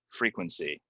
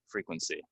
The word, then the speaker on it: frequency: what we have is we have some E's that people, for whatever reason, they want to pronounce them as short E's, but they're really long E's, right? So this is frequent, frequently, frequency.